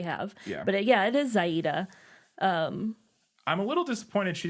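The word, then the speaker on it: Xayide: this can only be Zaida, however you want to pronounce it. I guess it is Yes. Zaida. I was just kind of saying Zadie when I was reading the book, like in my head, but Yeah. I was just I'm saying totally fine with. like Zaid, not Zaida. Oh, yeah, Zaid. But There I you mean, go. That would work, too.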